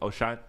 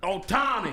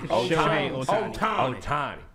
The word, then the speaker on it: Ohtani: O'Shine? How you say it again? The baseball player, damn. Ohtani. Ohtani.